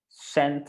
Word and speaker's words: cent: Cent. It's also the C, the say, we pronounce it as an S sometimes, cent.